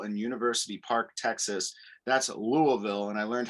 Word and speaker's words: Louisville: That's Louisville, and I learned how to pronounce Louisville correctly with Mom living in Kentucky.